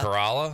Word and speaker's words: Corolla: want say yes Adam Corolla no cuz I I want to say Corolla might be pronounced a tad Cora Cora carala yes that sounds better now when in my